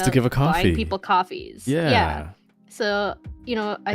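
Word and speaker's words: Ko-fi: remembering it but like it's supposed to be pronounced coffee because like the whole thing is like you're buying people coffees. So I was like coffee and then I hear other people say Kofi and I'm like am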